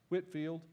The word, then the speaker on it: Whitefield: in 17 1971 George Whitfield spelled Whitefield pronounced Whitfield uh 1714 to 1770